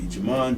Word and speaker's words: Jemond: then the letter g jamon g it's almost like that movie jumanji that's where we get it from jumanji but it's spelled different j-e-m-o-n-d and capital g